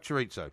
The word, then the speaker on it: chorizo: It's either chorizo or chorizo. You can pronounce it either way. No, you can't. It's chorizo. Anyway. It's spelled Chorizo, chorizo. Do you have it? It doesn't have an I on it.